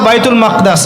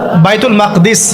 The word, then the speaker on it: বাইতুল মাকদিস: এবার এই বোরাক চলে গেল বাইতুল মাকদাস। এটা কোথায়? বাইতুল মাকদিস, বাইতুল মাকদাস না, বাইতুল মাকদিস।